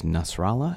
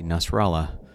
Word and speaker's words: Nasrallah: into seeing how a Nasrallah is running for election in quantum Allen even though it rhymes with Guatemala that is not a Spanish name and it is not